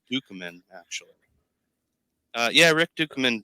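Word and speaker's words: Ducommun: dead is he really I think it's actually pronounced dukeman actually uh yeah Rick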